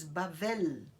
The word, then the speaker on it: Babel: Mas a segunda palavra tem som de V. Em hebraico você diz Bavel.